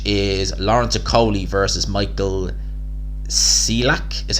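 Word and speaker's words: Cieślak: Then there's a little gap until 27th, which is Lawrence Okolie versus Michael Cieslak, is how you pronounce it.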